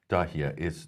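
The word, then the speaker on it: Dahieh: So in Beirut, in the suburbs, Dahia, is that pronounced? Yeah, this is Dahia.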